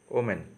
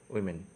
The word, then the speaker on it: women: So another commonly used English word with a wrong pronunciation is women, but people usually pronounce the word as woman. Okay, but the actual pronunciation is women.